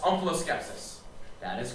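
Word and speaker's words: omphaloskepsis: homeful of skepsis yes can that also be pronounced om Pho skepsis it can it would be wrong OS skepsis o m p ha L oos k e p s i s OS skepsis that is is correct that's what it means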